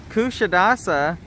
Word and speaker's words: Kuşadası: If I remember correctly, it's pronounced Kuşadası.